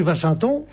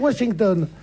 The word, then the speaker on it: Washington: du siècle, la rue Vachinton, c'est ridicule aussi. Donc il faut dire Washington. Sans trop marquer l'accent anglais, mais un peu de prononciation anglaise.